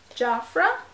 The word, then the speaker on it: Jafra: Okay, this is by Jafra. That's the American pronunciation of that.